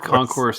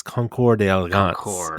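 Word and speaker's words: Concours d'Elegance: the word Concourse word Concourse at a car show implies something it implies I believe you're pronouncing it incorrectly when it's Concord deance is what you're looking for and they actually were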